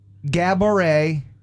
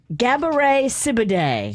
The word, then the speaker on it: Gabourey Sidibe: Is that Gabori Sidibe? Gabourey Sidibe. So I got the first part right. You did. I think you got Gabourey is how you say it? I thought so.